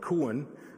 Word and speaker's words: Cuan: I just learned now before this introduction that it's actually very easy to pronounce. It's called Cuan, meaning port, so to speak.